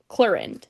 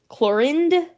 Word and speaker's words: Clorinde: So, travelers, today we're talking all about chlorin. Chlorin. Chlorend. Am I really supposed to pronounce the D? You should never leave out the D. Think it's more like chloran.